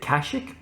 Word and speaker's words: Kashyyyk: Taris, Dantooine, Tatooine, Kashyyyk – although this game pronounces it Kashik, like a Mongolian horse-archer the Keshik (though the pronunciation could be much worse, the Holiday special calls it 27;10 “Kazook”), Manaan, Leviathan, Korriban, Rakatta Prime & The Star Forge.